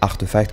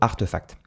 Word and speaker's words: RTFKT: Donc Clonix, c'est une collection de NFT qui a été créée par le studio Artefact. Artefact, donc RTFKT, mais ça se prononce Artefact, c'est un studio qui